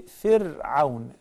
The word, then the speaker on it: فرعون: The ra is preceded by kasra, so we say fir'aun. Fir'aun with a very thin ra.